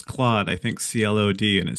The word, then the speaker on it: Claude: I hadn't, Um, because when you see it, it's spelled so differently that you don't yeah. make that connection. But yeah, Claude.